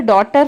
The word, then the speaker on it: daughter: Neighbor, daughter, fight straight. GH is silent.